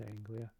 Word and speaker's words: Anglia: I believe that's how you pronounce it, Anglia.